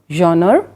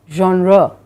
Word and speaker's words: genre: Genre is the spelling, but we don't pronounce it as genre, we pronounce it as genre.